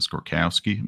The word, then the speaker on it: Skorkowsky: pretty cool but I I grew up in the South calling it skorkowski my whole life so I can't really I I can't call it by its proper pronunciation without it sounding really fake and of course so